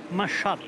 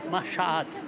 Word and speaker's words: Machat: Machat. J'y peux rien, hein, c'est comme ça. Ouais, je sais. Il y a deux A, Machat.